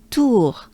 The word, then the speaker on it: Tour: So it's a pretty closed up oo, right? Oo, oo, oo. Our, our, our. Tour, tour, tour.